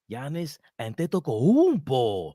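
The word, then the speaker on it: Giannis Antetokounmpo: the Nicks have the highest odds on Landing Janis Ando that's how you say it times the Nicks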